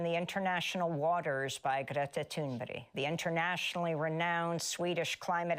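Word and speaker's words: Thunberg: That's not even how her name's pronounced. I Well, I thought it was like Tunberg. I thought it was just simple like Tunberg, but she's like Tunbury.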